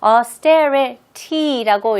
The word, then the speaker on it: austerity: The next word, austerity. austerity. austerity. austerity. 자, 방금 느끼셨어요? 여기 T가 처음에는 천천히 하실 때는 austerity라고 이렇게 하시지만 원어민들은 워낙 이거를 빨리 읽으니까 T가 약간 D 발음으로 나와요.